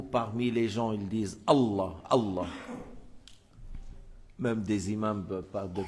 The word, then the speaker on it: Allah: Alors, c'est pas comme ça qu'on prononce le nom de Dieu. Alors ça, il y en a dans beaucoup de pays, le fait de prononcer le nom de Dieu de cette manière. Et il y en a d'autres encore, ils disent Ah.